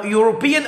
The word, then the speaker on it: European: يا مستر ما احنا خدنا في ابتدائي زمان طبعا مش عندنا الحمد لله اني أو European اولها اي والاي من الفايف فاولز اي واي واي والاو واليو.